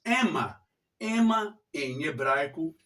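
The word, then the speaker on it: אמא: Eu tenho aqui, olha, esse vocábulo em hebraico, e esse vocábulo em hebraico, na pronúncia, se diz Ema.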